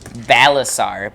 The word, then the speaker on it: Balasar: what was that name and how do you pronounce it balasar b-a-l-a-s-a-r balasar is a blue Dragonborn a little